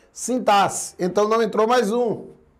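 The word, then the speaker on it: sintaxe: Então a letra X aqui, por exemplo, ela tem som de C. É sintar C. Muito embora você vai dizer: "Mas Jonas, eu escuto o pessoal pronunciando sintarx." Não, ninguém fala errado. Então, mais à frente a gente vai discutir isso. É um preconceito linguístico, mas a pronúncia correta, adequada ao padrão culto é sintasse, então não entrou mais um.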